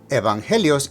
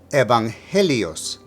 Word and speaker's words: evangelios: Evangelios is masculine and plural because of the ending os.